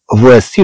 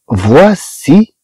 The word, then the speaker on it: voici: مثلا فواسي لو بير دو روني، فواسي سي مع اي تنطق سي، سي مع اي تنطق سي. اذا تنشوفوا بان هاد السي تتجي بحال اس تجي بحال اس، وفي حالات اخرى غنشوفوا بان بحال ك. اذا طبعا هاد السيمله غتبع اي تتنطق بحال اس.